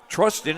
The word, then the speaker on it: Trustin: Trustin as in trust in.